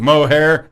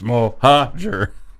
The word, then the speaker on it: Mohajer: Or what if somebody went, what are you doing, mohair? No, it's Mohajer. Come on, Mjolnir.